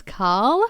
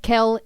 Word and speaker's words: Kel: And everybody often thinks Kel is Carl. And when you look at the footy tips, it says Carl versus Melb. So, it's a sign because Kel, people think it's Carl,